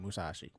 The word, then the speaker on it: Musashi: Musashi's how you, that's how you say it, Musashi.